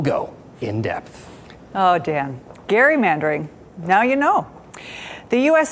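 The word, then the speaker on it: gerrymandering: do have a surprising amount of knowledge about Jerry mandering I mean for instance did you know it's actually pronounced Gary mandering named after a founding father named Elbridge Gary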